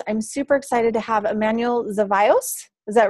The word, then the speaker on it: Emanuel Zevallos: thursday may 4th i'm super excited to have emmanuel zavios is that right emmanuel yeah you actually pronounce it okay good so excited to have